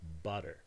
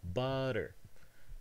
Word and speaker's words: butter: word butter is pronounced butter the sound here is not a stop but rather an alveolar tap as you can see from the symbol butter so where do we